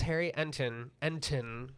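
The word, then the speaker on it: Harry Enten: Uh CNN's Harry Entin pronounced with the T.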